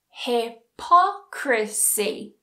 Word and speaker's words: hypocrisy: So notice that there's the stress syllable and then there's the 2 after. Democracy. Hypocrisy.